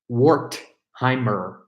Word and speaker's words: Wertheimer: Jeremy Wertheimer. Sounds just like it's spelled just like it sounds.